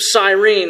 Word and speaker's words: Cyrene: had uh Lucius of Cyrene who I mentioned I think I said Cyrus I met Lucius I read his name wrong uh so you have